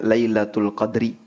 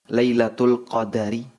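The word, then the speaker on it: ليلة القدر: Baik, tentang lailatul qadar secara bahasa ada dua cara penyebutan. Bisa dibaca dengan huruf dalnya disukun. Jadi, bacanya lailatul qadri. Bisa juga dibaca dengan huruf dalnya di fathah, lailatul qadari.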